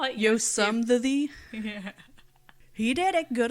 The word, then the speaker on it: Yosemite: He insists it was Yosemite, even though he didn't pronounce it correctly, at all. What do you call it? Yosemite.